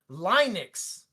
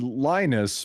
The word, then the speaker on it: Linus: I have an argument with the fact that you say Linux. Started watching. I mean, his name is Linus, but I understand okay.